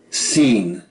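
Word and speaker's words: שׂ: On the other hand, if you see the dot on the top left of this letter form, pronounce it as S, as in sun.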